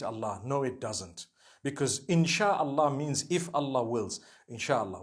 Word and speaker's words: InshaAllah: No one says InshaAllah. They say InshaAllah. That's what it is.